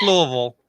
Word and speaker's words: Louisville: call it it it sounds like the the pronunciation is degrading the more we say it no it's it's it's Louisville okay all right L Lille yeah you know